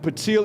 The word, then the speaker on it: PTYL: So if they look up patil and can you spell that one more time for us?